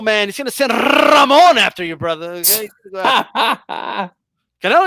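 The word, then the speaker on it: Ramón: You got to roll the R extra anytime you say his name, too. That Ramon!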